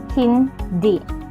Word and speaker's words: hindi: Oo is pronounced as o, while hindi is pronounced hindi, rhyming with me with a stress put in D. Next, pwede po magtanong, may I ask a question?